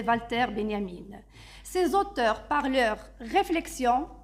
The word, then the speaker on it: Walter Benjamin: Marx Carl Manet et Valter Benyamine qui qui s'écrit Walter Benjamin puisque c'est un philosophe allemand donc c'est Valter Benyamine ces auteurs par leur